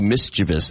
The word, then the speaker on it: mischievous: it's hard to say mischievous that's supposed to be mischievous there's no there's no I after the V it's mischievous that's interesting but I always say mischievous I just assumed it was a Midwest pronunciation here's another one for